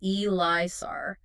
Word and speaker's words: ELISA: an inhibition elisar it's spelled Elisa but it's pronounced elisar and basically it measures how well the boiled